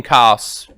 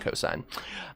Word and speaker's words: cos: N and cos sin coughs they're actually but they're still pronounced sine and cosine but when you're doing